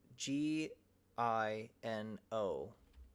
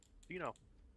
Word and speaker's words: Gino: Spell it out. G I N O. Gino.